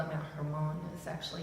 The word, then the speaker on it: Hermon: In the Psalms, it talks about they call it Mount Hermon, is actually how it's pronounced, but it's the only snow in Israel.